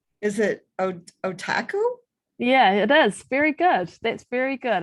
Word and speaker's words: Otakou: yeah so yeah cause he's like is it otaku yeah it is very good that's very good